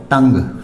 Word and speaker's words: tongue: इसी तरह TONGUE, इसमें भी GUE है लास्ट में तो ये इसका हो जाएगा टंग।